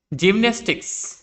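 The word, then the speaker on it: gymnastics: জিমন্যাস্টিক্স, এখানে দেখো জি এর পরে ওয়াই রয়েছে, সেজন্য এটার উচ্চারণ হয়েছে জয়ের মতো।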